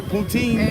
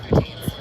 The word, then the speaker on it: poutine: I've been eating cheese and fries and gravy, poutine. It's a poutine. Poutine, is that how you call it? Poutine? Poutine, yeah.